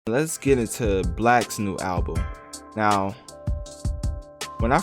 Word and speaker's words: 6LACK: Well, Black is for those that don't know, Black is an R&B artist, and it's spelled with a 6 and LACK, so it's spelled like 6LACK, but it's pronounced Black.